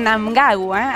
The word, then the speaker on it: Mnangagwa: la delicada situación política en francés emmerson mnangagwa así es como se pronuncia su apellido o se ha declarado ganador